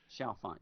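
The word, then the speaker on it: Chalfant: How do you pronounce his last name? Shalfant, Shelfin. Shalfant, yeah.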